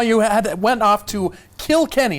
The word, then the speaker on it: Kilkenny: Now you had went off to Kilkenny. And that's how you say it, correct? It's like South Park.